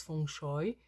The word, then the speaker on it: feng shui: vraiment basée sur le fchui qu'on prononce F choy font chauer donc l'air